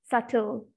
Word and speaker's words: subtle: we have not many words which have got silent letters see for example ireland palm this is what subtle be silent subtle psychology no and words starting with v and